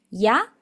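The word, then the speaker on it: や: Es importante que si vos tenés un acento español rioplatense, por ejemplo, de Buenos Aires o de Montevideo, no pronuncies esta Y como si fuera una sh.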